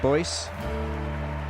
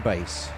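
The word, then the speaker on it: Buis: And you see the announcers call him Deanne Boyce, but it's Deanne Bass. I'm reliably informed. My wife's South African. She coaches me on my pronunciation, and I called him Boyce the other night, and I tell you, when I got in, I got a rocket. She says it's Bass.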